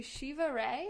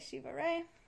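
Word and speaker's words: Shiva Rea: So credit for this goes to Shiva Ray. You can look her up online. It's R-E-A. And I think I'm saying it right, Shiva Ray.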